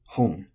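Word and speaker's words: 本: Then hon for book. Also accented. Which is nice because the unaccented words like this are tricky, especially at first, to pronounce. So hon. Just pronounce it like that, and you're probably already saying this right, so congratulations.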